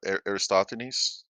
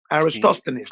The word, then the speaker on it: Aristophanes: his name, but I think it's pronounced Aristophanes. Yes, okay. Aristophanes. Let's take him on.